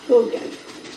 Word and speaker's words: Haugen: I actually think it's pronounced Hogan. Like Hogan's Heroes?